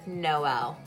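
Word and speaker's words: Jkmno: And one of them was a parent spelt their kid's name J-K-M-N-O and you pronounced it Noel because there's no L.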